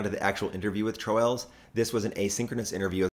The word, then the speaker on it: Troels: Well, the Danish pronunciation is Troels, but Troels seems to fit English speakers better. But in the end, Troels is what it usually ends up as.